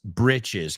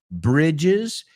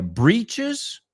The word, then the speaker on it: breeches: Que también veo que se puede usar breeches, que sepamos que en ambos casos no suenan como bridges, y dependiendo cómo lo escribes, se pronuncia breeches, eso es con doble E, or britches.